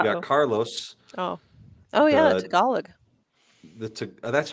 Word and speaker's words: Tagalog: Tagalog. The That's how you pronounce it.